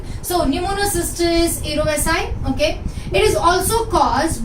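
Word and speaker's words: Pneumocystis jirovecii: So pneumonia can be caused by some fungus like Pneumocystis erovesi. Okay. अभी Pneumocystis erovesi, okay, this is J but pronounced as I. So Pneumocystis erovesi, okay, it is also caused by Pneumocystis carinii.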